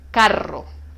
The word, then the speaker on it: carro: Con el sonido suave solo toca una vez, caro, y con el sonido fuerte rebota, toca varias veces, 2, 3, 4, etc. Carro.